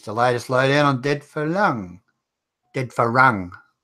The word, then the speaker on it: farang: How do you say Farang or Farang? Farang. Oh, it's two ways to say it. Two ways. R and L are the same for Thais, aren't they? They say Farang. We say Farang.